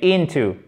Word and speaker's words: into: you into my shoe mais into accent tonique sur la première syllabe scream wild boys water